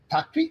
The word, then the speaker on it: Tikrit: They pronounce it Tikrit. Takrit? It's not Tikrit. It's Takrit.